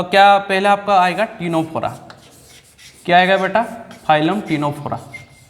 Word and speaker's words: Ctenophora: तो same to same आपका जो टीनोफोरा है, तो आपका जो टीनोफोरा में क्या हो रहा है? आपका सी क्या हो रहा है? साइलेंट हो जा रहा है.